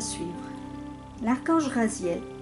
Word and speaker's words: Raziel: à suivre la cage raziel prononcé rosiel ce qui signifie secret